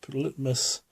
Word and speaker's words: litmus: So you use litmus, I call it litmus because I'm slack with New Zealand accent, but it's spelled litmus strips.